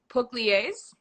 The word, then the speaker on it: Pugliese: It's Pugliese. Close. Good. It's pretty good. It's good. Pugliese. There's no right way to say my name in English because it's an Italian state called Puglia.